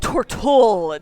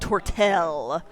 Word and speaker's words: Tortola: for for uh yeah it's pronounced Tortola not tortel stab stab you're stabbing